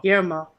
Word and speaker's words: Guillermo: Guillermo del Toro is making a horror series for Netflix, and I have no idea how to pronounce Guillermo. Guillermo. Guillermo.